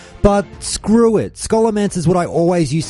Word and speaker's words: Scholomance: episode when I said school of ants because I did actually read that somewhere where someone said well it's a portmanteau of school and necromancy so school a man should be the correct